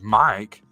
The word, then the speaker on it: M1K: of the world easily the m1k pronounced Mike uh like the word uh beginning with a microphone uh integrates the functionality